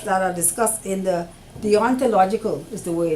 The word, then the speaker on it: deontological: are discussed in the deontological is the way now you pronounce that like a D on the ontological and tell you logical